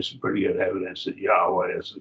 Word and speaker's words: Yahweh: Probably Yahweh is probably the correct pronunciation. I think they've done a study on it. I think there's probably some pretty good evidence that Yahweh is the correct pronunciation.